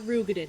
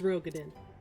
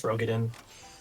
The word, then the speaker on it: Rogodin: It's not Rugin. It's Rogodin. It's Rogodin.